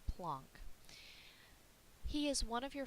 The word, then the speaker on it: Planck: do need another way of going enter max plunk and that is how you say his name plunk he is one of your father's of quantum